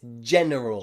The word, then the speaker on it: general: j j sound and remember at the beginning it sounds like this general general gentleman okay and genius let's